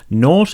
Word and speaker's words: naught: 0.75 and not 0.5 naught is a British word it just means 0 it rhymes with thought Porsche or court it's a particularly British